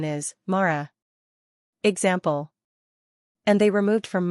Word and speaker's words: Mara: The correct pronunciation is Mara.